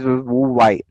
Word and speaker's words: Huawei: Okay, H is silent here. So that is VUVA.